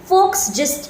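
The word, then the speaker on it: Volksgeist: theory दी फोक्स जीस्ट आप बोल तो रहे हैं बट जो स्पेलिंग है वो वी है वी ओ एल के जी ई आई एस टी बट क्योंकि वो जर्मनी का था तो जिसे फोक्सवगन बोला जाता है वोक्सवैगन नहीं बोला जाता वैसे ही फोक्सिस्ट बोला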